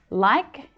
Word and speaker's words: like: Now, if we just look at the spelling, like ends in E, a vowel letter. But the E is silent in this word. So like actually ends in a k sound, a consonant sound.